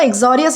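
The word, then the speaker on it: uxorious: तो दोस्तों आज का हमारा लास्ट वर्ड आता है एक्सोरियस। दोस्तों एक्सोरियस इसे प्रोनाउंस करना है और इसका मतलब होता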